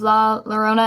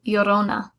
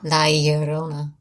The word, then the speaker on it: La Llorona: I've heard of The Curse of La Llorona, and it's not pronounced that. It's Spanish, and it's a double L, so it would be Llorona.